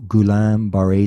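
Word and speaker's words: Guillain-Barré: will i don't want to butcher the the pronunciation of yourself i'll share it i'll share it yeah so i was diagnosed with gulam bharay syndrome and um it's an autoimmune disease it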